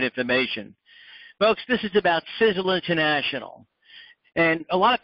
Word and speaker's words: Sisel: folks this is about sizzle international and a lot of people have a problem with the pronunciation it's actually pronounced like sizzle spelt sa z ZL